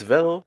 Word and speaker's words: Vedal: It's Vedal, rhymes with pedal and metal.